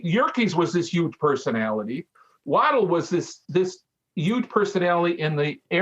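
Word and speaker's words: Waddell: So the other person who's also kind of underappreciated, like maybe the loop itself, is the designer, John Alexander Low Waddle.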